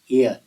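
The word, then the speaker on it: heir: यहाँ एयर के पहले कौन सा आर्टिकल यूज किया जाएगा, ए या एन, ये हमें बताना है। ध्यान देना बच्चों, इस वर्ड के उच्चारण में एच जो है साइलेंट है।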